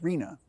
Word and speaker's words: RHNA: Housing Needs Allocation, or known by its acronym RHNA, pronounced RHNA.